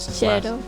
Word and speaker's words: Cello: Now, his name is spelled like it should be pronounced cello, but his Cero. Cero. Cero. Cero in Mashima Japanese. Cero. And it's not a long E, it's just like Cero.